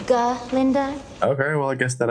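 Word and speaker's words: Galinda: Actually, it's G. Linda. Okay. Well, I guess that answers my earlier question. Maybe the pronuncification of your precious name not the sole focus of Dr.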